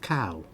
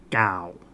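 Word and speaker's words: ข้าว: K-A-O is pronounced here in Thailand, Gao. Very similar. Have to listen. but definitely a difference. Cow, gal. It's a much harder, it's like a hard G. It's like a G and a C all kind of put together there. A really hard G.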